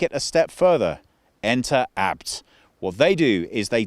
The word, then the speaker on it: ABT: Now, ABT, or ABT, but it's a family name, so the pronunciation is ABT, is a German performance company.